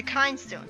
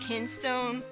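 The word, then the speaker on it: Kinstone: my favorite thing about as a whole the kind stone system well I guess it's pronounced kin stone but i always call that kind so know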